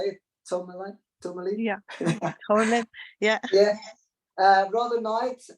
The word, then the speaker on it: tourmaline: Tourmaline.